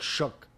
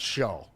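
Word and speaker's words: Shough: It's It's like It's like shook. Oh, it's not show. Everybody thinks it's show. It's shook.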